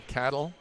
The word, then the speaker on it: Cadell: Number 3 is Saris? No, Noah Cadell.